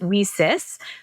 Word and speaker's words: WiCyS: acronym wi Ys and we pronounce it whis like we sisters because we're a global